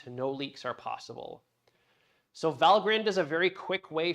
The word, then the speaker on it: Valgrind: There's a program that's installed on Aviary that's called Valgrind or Valgrind. I don't know how to pronounce this. I'm going to call it Valgrind and not Valgrind, but you can call it whatever you want.